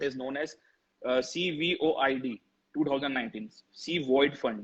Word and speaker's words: CVOID: C Void Fund. That is like everybody is pronouncing COVID, we are pronouncing CVOID Fund, which is known as Corona Void.